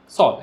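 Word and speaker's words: Saul: सॉल, ऐसे सॉल ही pronounce करेंगे।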